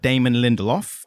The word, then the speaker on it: Lindelof: So the showrunner is Damon Lindelof. I think I pronounced that correctly.